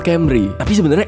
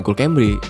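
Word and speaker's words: Cymru: istilahnya Lumayan keren itu inikol Camry aja nih bukan Cambridge editor tampilin ejaan yang benar jadi Camry itu adalah sebuah kata yang berasal dari bahasa Welsh ya Artinya sih competitions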